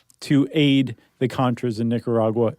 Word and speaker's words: Nicaragua: Nicaragua.